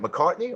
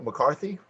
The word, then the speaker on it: McCartney: Am I saying it right? McCartney or McCarthy? McCartney. McCartney. Yeah.